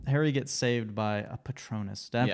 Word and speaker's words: Patronus: where, for example, Harry gets saved by a Patronus. Did I Yeah.